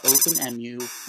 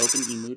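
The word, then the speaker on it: OpenEmu: my macbook pro on uh openmu or open emu depending how you prefer to pronounce that uh which is arguably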